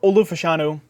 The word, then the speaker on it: Fashanu: Olu Fashanu, A lot of people pronounce his name super weird. But Olu Fashanu, I like him a bit, but I've ever